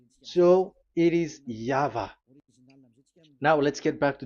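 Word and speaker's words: Yahweh: The pronunciation pronunciation is equal V. It is V. Y H V H. So it is Yava.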